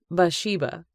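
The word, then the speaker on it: Bathsheba: word bath she laughed I don't think her name is pronounced that way it's more like bash sheiba with the tea being silent it's bath Sheba after all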